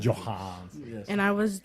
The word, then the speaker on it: Johansson: I was That's exactly how she pronounces it. Johansson.